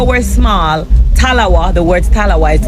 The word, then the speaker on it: talawa: Jamaicans they have this saying Li but with talawa yes did I say it right definitely little but with talawa is it so explain to us what that